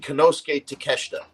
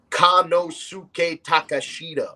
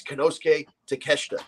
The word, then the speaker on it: Konosuke Takeshita: AEW has this kid Konosuke Takeshita. Yeah. And if you read it out phonetically, if you're an American, you read Kanosuke Takashita. You know what I mean? That's how you would read it.